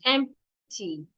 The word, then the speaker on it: empty: I explained yesterday that the P is not silent. empty a state not estate.